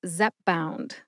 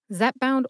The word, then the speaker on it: Zepbound: drug name today is Zep bound Zep bound only has two syllables Zep which rhymes with pep and bound as in